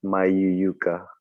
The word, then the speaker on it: Mayuyuka: up to thank you uh it's it's my U Yuka um yeah it's not that hard because